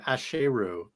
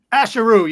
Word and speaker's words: Asheru: for all these years I was pronouncing dude's name wrong I was saying asheru as if it wasn't jayu shame ashero y'all get it right yeah yeah um so